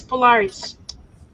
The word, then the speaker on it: Polaris: Yes, Polaris.